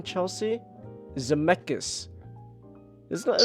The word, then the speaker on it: Zemeckis: Why is it hard to pronounce director's name, Chelsea? Zemeckis. Isn't that Zemeckis.